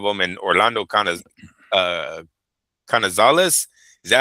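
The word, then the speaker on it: Canizales: And Orlando Kn uh Knazales, is that how you say it? Orlando Knazales. Canales canales was a great He's just like him.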